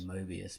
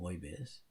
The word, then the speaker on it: Moebius: I say Mobius, but apparently you meant to pronounce his name Moebius.